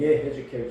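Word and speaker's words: יחזקאל: 에스겔은 바로 그 거발강과 유대인들 포로 수용지에서 유대인들과 함께 있으면서 하나님의 말씀을 받은 따라서 에스겔은 예 헤즈켈인데 예 헤즈켈 히브리어 본 발음 예 헤즈켈.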